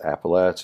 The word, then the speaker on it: Appalachia: then I would say well my my preferred pronunciation is appalache it just feels more correct and and as